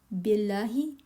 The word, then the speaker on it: بالله: It's not be. Billahi. Billahi.